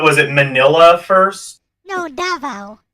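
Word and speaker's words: Davao: it Manila first no davo it's called DAV D DAV yep that is the correct pronunciation you have to uh put the stress on the first syllable davo so uh when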